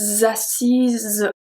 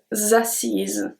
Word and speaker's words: assise: If it's a woman, we are going to say je me suis assise. Z. So it's a Z sound at the end. Je me suis assise.